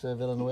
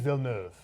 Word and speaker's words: Villeneuve: Mel is ahead of how do we say Denis Villeneuve? Denis Villeneuve.